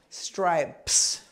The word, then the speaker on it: stripes: You have to have stripes. Stripes. So here's 3 letters. You have to say them all as one sound.